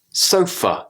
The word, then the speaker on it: sofa: syllable sounds police sofa sofa the a becomes an uh sofa the word about about